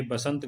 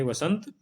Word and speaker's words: वसंत: है वैदेही सही है बसंत गलत है वसंत सही है अब हम देखेंगे ज